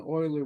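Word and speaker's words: Euler: pronounce the T and Oiler was Swiss and I don't know how it would be pronounced in swis French or German but it's always pronounced Oiler and so this is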